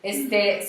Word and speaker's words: Zorrúbela: Sorrúbela es la historia de Es como Julia. Gatúbela. Sí, pero con acento en la U, pero esta es zorra. Son los gatos, zorra. Sorrúbela.